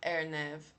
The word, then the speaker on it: RNAV: A R nave, que a gente fala de RNEV, area navigation, chama airnav, juntando a pronúncia do R em inglês com o início de navigation, tá?